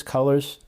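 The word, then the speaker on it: Cullors: also with patrice cole it's spelled c-u-l-l-o-r-s i believe it's colors i haven't i'm not certain of it and she's on with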